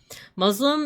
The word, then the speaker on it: Muslim: Muslim is pronounced how it's spelled. There's no Z sound.